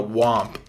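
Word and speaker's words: Whomp: Well, there's a difference between that and u you know, Wamp, which I forget what it I I guess that's how you pronounce it. W H O M P.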